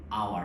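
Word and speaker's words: hour: আওয়ার শব্দটা হচ্ছে এই হাওয়ার না বলে আমরা বলতেছি কি আওয়ার তাহলে এখানে উচ্চারণটা কার মত হচ্ছে কনসোন্নে উচ্চারণ এইচটা না হয়ে উচ্চারণ হচ্ছে কার মত ভাওলের মত উচ্চারণ হচ্ছে এখানে এইচটা আসলে কি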